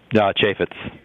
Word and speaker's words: Chaffetz: Is that how it's pronounced? Chaffetz.